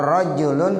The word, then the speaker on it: rajulun: Kalau rajulun artinya laki-laki, kalau rijlun kaki. Nah, beda ya. Padahal tuh tulisannya sama Bapak Ibu. Ro, jim, lam. Tergantung gimana kita mau bacanya. Kalau ja'a rajulun, jangan dibaca ja'a rijlun. Ya kalau ja'a rijlun datang kaki lah, kaki datang sendirian. Ya, ja'a rajulun itu bacanya begitu, orang laki-laki datang.